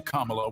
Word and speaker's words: Kamala: Kamala Harris.